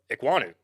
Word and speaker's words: Ekwonu: On that pronunciation. There you go. Yeah. I mean, Ike Ekwonu is his nickname, but Ekwonu.